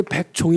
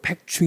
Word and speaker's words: 백중: 대한 대답을 드리고 싶습니다 100종 100종 이 줘 본래 근데 100종 이라고 잊지않고 백중 이라고 발음을 합니다 그 얘기는 아마 절에